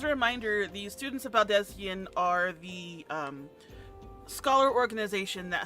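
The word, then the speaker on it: Baldesion: Baldezian. Okay. That's how they pronounce it with the voice actors in the game.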